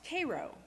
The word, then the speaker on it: Cairo: The nearest town was Cairo, spelled like Cairo, Egypt, but pronounced Cairo. And I'm convinced, Cairo like the syrup, and I'm convinced the